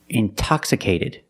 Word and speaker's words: intoxicated: Or words like intensive, intoxicated. We have the stress after the NT. We pronounce the T like a pure T.